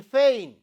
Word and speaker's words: feign: And in the next word, G letter is silent in feign.